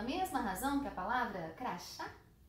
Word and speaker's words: crachá: razão que a palavra crachá? É claro que não. Crachá recebe acento porque a sílaba forte de crachá é a última, então ela é uma oxítona terminada em A.